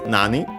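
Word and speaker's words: 何: And yeah, after that it says Uh first and foremost we have nando uh which comes from nani accent on the first syllable uh often abbreviated and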